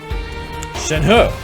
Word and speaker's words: Shenhe: Shenhe, right? That's how you pronounce that. The H-E, Chinese, huh?